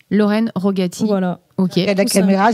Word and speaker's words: Rogati: Voilà, tout, c'est Lorraine Rogati. Lorraine Rogati.